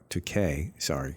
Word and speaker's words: Takei: William Shatner and George Takei and Takei, rhymes with toupee, as he reminded Bill Shatner.